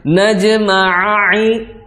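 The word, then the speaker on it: نجمع: Ain yang pertama bunyi, ain yang kedua berubah jadi hamzah. Nah, ini lahan jali ya para pemirsa Nega TV. Kalau seandainya dibacanya dirubah menjadi huruf lain, ini lahun jali. Kita merubah isi Al-Quran, ya. Nah, maka dihindari. Jangan, yang benar gimana? Najma'i, seperti itu.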